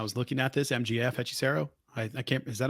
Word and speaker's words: Hechicero: MJF Hechicero.